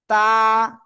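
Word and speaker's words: ت: জিব্বার আগা দুই দাঁতের গোড়ায় লাগান। লাগান লাগান। লাগিয়ে এখন উচ্চারণ করতে হবে। তা।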